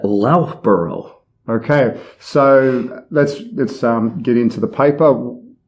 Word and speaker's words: Loughborough: I believe we would pronounce that Loughborough.